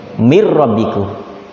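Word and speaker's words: مِن رَّبِّكُم: dalam kaidah ilmu tajwid setiap nun mati ketemu rok dibaca bak kacanya Edward bilagunnah misalnya Min rabbikum bacanya mirrobbikum menteri Hai min rohmatillah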